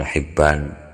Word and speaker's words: Hibban: Atau bacanya kalau Ibnu Hibban jelas bacanya Ibnu Hibban, hampir sama itu tulisannya.